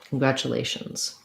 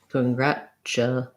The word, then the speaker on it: congratulations: In congratulations, We have the sound, an unstressed schwa, congrat, stress syllable, congratulations, congrat. We use basically a ch sound here, congrat-ch, so it sounds like congratulations. Congratulations. Stress. We actually use a Z sound there at the end.